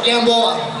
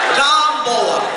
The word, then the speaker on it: Gamboa: your last name gambo gambo gambo gambo lang Yano you are pronouncing your last name incorrectly it's not G open your mouth use your articulators say it again once more pollution in